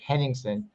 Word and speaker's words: Henningson: named Craig hen henningson I've gotten his name wrong in the past but I want to make sure I pronounce it right henningson he was Ralph's regular